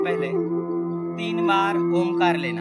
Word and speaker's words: ओम: अंदर खींचेंगे ओम ओम में ओ थोडासा कम रहेगा और म का हम ज्यादा दीर्घ उच्चारण करेंगे ओ हे कमी वेळ